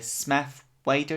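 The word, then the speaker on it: Smith-Waite: And I remember one Christmas, my mum got me a pack of tarot cards, and it was the Smith Wider deck. That's how you pronounce it.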